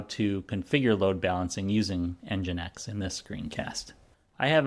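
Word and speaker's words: NGINX: We're going to use an open-source software package called EngineX. It's spelled NGX and EngineX is developed to help automatically balance the load between multiple servers or multiple applications that are running.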